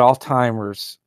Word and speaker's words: Alzheimer's: And he said Alzheimer's, whatever. I never could pronounce that word right. It's Alzheimer, and I always put a T in there, Alzheimer's. Clearly there's no T in there, but that's just what I call it.